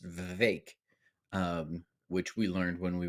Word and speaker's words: Vivek: No, Vivek, but it's not Vivek, it's Vivek.